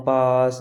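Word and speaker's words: palm: ठीक है, अगर आपको एम से पहले अगर एल दिख रहा है वहाँ पर ही हम एल को साइलेंट रखेंगे, जैसे कॉम, पास, एंड, बॉम।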